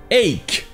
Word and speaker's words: ache: Mais il existe aussi un synonyme souvent utilisé pour parler d'une douleur à un endroit précis, c'est ache. Ici, le CH se prononce que. Ache. Et vous le trouverez souvent après une partie du corps, comme par exemple headache.